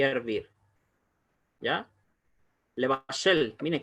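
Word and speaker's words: לבשל: Levashel, mire, casi ni se pronuncia la E. En comparación, por ejemplo, con la E corta de piedra, even, levashel, egos, vet.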